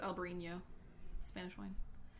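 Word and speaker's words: Albariño: and being a blend I think it's Albarino if it's eaten it doesn't have an Enya it still could be pronounced that way yeah but it's not an enye because that's the grape it's very possible yeah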